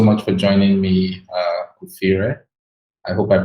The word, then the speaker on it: Kufirre: correctly thank you very much my name is kufire i'm an embedded family engineer i've been